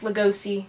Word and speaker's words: Lugosi: be all those bella legusi moves i saw when i was a kid it's pronounced lugosi sweetie start this bottle